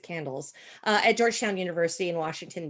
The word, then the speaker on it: CANDLES: If you look the acronym, we pronounce it CANDLES, at Georgetown University in Washington, D.C.